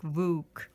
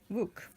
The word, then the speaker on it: Vuk: And so you pronounce it as V-O-O-K, like Vuk. Vuk.